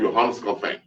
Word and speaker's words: Johannes Calvin: There's this guy from France, Jean Calvin, in Dutch called Johannes Calvin. That's how you say it in Dutch.